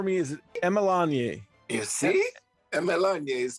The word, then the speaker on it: Emerlonye: to talk to you my pleasure can you pronounce your last name for me is melanie you see melania is correct oh good i'm i'm just now